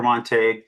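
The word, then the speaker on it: Montague: Uh, could you uh state your full name and spell it for the record before you proceed? Yeah. Monte.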